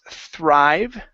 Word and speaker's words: thrive: Um next is thrive. Okay, give me a good thr here. Thrive.